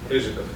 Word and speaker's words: Ryzhykov: Rizikov. Okay, so I butchered it mostly, but I even looked it up on YouTube to try to figure it out.